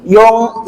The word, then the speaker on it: Jong: Jong atau Yong? Pakai Y. Ya, Yong ya.